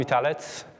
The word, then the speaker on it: Witalec: me cool so um I'm vialet that's how I pronounce my surname uh I consider myself